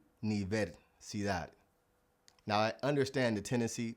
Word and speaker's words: universidad: Last but definitely not least, the Spanish U, or the U sound. Now, I hear this one being butchered all the time by English speakers. And yes, you guessed it, the word university. A lot of English speakers like to say universidad, but it's actually universidad.